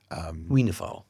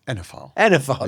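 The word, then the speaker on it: oenophile: How do you pronounce that? I always get it wrong. Wienerphile. Enophile, there we go.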